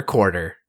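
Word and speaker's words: Quartzer: Rider Gio's Summer movie over quarter the Z is silent and not to be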